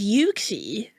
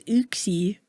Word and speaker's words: Uxie: I thought it was Yuxie. Maybe I am the Dulu one. Maybe I am just the Maybe I'm the crazy one. I've always said Yuxie. I didn't know it was Uxie to give me.